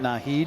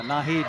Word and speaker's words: Naheed: I said, okay, how do you pronounce his name? I said, is it Naheed? He goes, yeah. He says, I call him Knothead in practice, but yeah, Naheed, that works.